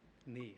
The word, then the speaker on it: Nye: Knee. Think of left knee, right knee.